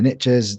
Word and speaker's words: niches: So these niches are insane, and actually it's a really good term, is the riches are in the niches. The Americans say niches. I know it's niches, but it is true.